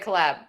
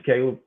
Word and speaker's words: Caleb: I said collab. It's Caleb.